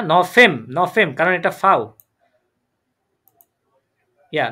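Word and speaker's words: November: safe না জেব কারণ আমরা বলেছি বুরকিয়া জ উচ্চারণ হবে এটা ইয়া হুম না নফেম নফেম কারণ এটা ফাউ ইয়া নফেমে ইয়া ডিসেম্ব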